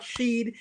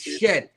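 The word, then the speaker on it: Shedeur: to pronounce his name it's not Sheed it's shed exactly and let I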